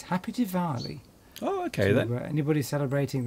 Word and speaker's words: Diwali: I think the W is pronounced like a V.